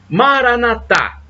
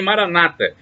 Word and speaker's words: maranata: aramaico dialeto de jesus maranata como dizem os católicos com a tônica na última sílaba os protestantes dizem maranata com a tônica na penúltima sílaba mas o significado é